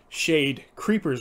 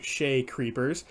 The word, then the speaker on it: Shade Creepers: me to realize that I had been saying Shade Creepers wrong. I've been saying Shay Creepers, but from now on I will say it correctly.